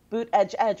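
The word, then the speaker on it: Buttigieg: and over again but he was pronouncing it buuut edge edge which is actually how the mayor's campaign pronounced they have like swag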